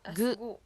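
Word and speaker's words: ぐ: Third one is the hiragana ku, pronounced as gu.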